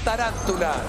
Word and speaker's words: tarántula: La palabra tarántula lleva acento. No. Sí. Lleva acento en la segunda A, es tarántula.